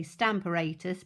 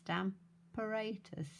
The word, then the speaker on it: Stamparatus: for me i say stamparatus because the pronunciation of apparatus is apparatus so it's stamperatus for me but i